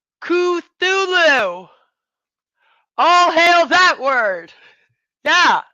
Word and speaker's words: Cthulhu: I love you guys her it's like it's pronounced katulu Cthulhu all hail that word yeah we'll just do